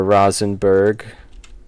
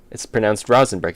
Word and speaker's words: Rosenberg: It's pronounced Rosenberg. Exactly, Brian Pog. That's what I was thinking. It's pronounced Rosenberg. It's pronounced like row.